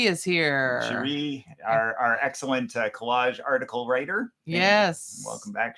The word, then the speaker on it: Kolaj: of our regulars, in Collage magazine, which is a really wonderful publication, out of Montreal, international publication, but published in Canada, for Quarterly. the art of collage, Yeah. contemporary collage, and it's spelled Kolaj.